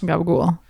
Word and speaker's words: capicola: And so I was very snobby about North Jersey Italian, because words are pronounced very differently. There's a lot of cutting off of words. Instead of mozzarella, it's mozzarella. Instead of capicola, it's gabagool.